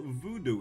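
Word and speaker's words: vodou: Well, voodoo is spelled V-O-D-O-U and not V-O-O-D-O-O.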